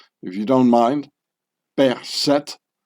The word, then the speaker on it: Berset: Per-Seth. The French pronunciation would be Berset.